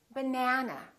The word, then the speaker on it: banana: That means this vowel is going to be much longer. Repeat, banana. Banana. So, the a is going to be prolonged.